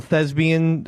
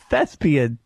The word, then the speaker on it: thespian: Was was one of the requirements of being an international thesbian uh group mispronouncing the word thespian? How did I say it? Thesbian with abian. It's Fespian. There's a P.